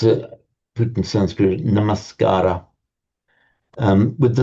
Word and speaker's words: namaskar: to the namaskar with namaskar it's pronounced in in modern times the dropping of the final ah in older time namaskcara um the gar means